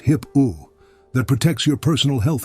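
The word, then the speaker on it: HIPAA: There's a law called HIPPO, pronounced HIPPO, that protects your personal health information.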